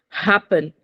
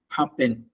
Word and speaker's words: happen: yeah very good so you have to pronounce the h the H is not silent in English happen very good happen poti yes so come